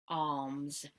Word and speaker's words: arms: Arms, да, буковка R не читается. Получается долгий звук А. Arms.